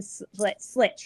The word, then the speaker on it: Slecht: Slecht, right? Yeah, yeah. What's the correct way to say it? Well, it's Dutch. It's slecht. Slecht.